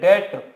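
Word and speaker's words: debt: पे आ जाएगा बैड डेट। इसे आप डेप्ट नहीं पढ़ेंगे, बी साइलेंट होता है, डेट पढ़ेंगे, बैड डेट account also डेबिट।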